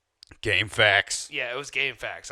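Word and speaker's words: GameFAQs: Yeah, it was Game Facts. I was trying to say it correctly, not say it incorrectly. Game Facts.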